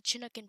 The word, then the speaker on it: Chinook: Regionally, tribal areas of the Pacific Northwest use a soft sh sound, while those in central Washington and Canada pronounce the hard ch sound. The language of the Chinookan people is known as